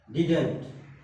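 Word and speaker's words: didn't: एक और बात यही सीख लीजिए आप लोग, डिड नॉट को हम बोलते हैं एन एक्सेंट के माध्यम से डिडंट, डिडंट बोलते हैं, डिडंट, डिडंट। क्या बोलेंगे? डिडंट। प्रोनाउंसिएशन क्या होता है? डिडंट होता है।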